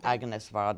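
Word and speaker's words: Agnès Varda: any other film, but basically any film by Agnes Varda, or Agnes Varda as she's pronounced here, is an eye-opener.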